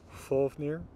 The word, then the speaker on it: Fafnir: with either of those F will be pronounced F only at the beginning of words like in the name of the dragon Fafnir or doubled which you're